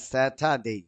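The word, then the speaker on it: Saturday: উচ্চারণ আর বলেন হ্যাঁ স্যাটারডে হয়েছে আব্দুর রাজ্জাক দেখেন বাংলা কিন্তু র লেখা নাই স্যাটারডে স্যাটারডে। হ্যাঁ র আছে এখানে না, এ র র পড়লে সে ভুল করবেন এটা ব্রিটিশ উচ্চারণ এটা হয় এই যে মাঝে শিখে মাঝে।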